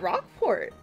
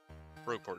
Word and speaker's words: Rogueport: Rockport are they at Rockport Rog yeah rogueport is how it's pronounced um sporle oh uh